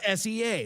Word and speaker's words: SEA: It's SEA, like LAX or what's the Portland one, like PDX or something like that?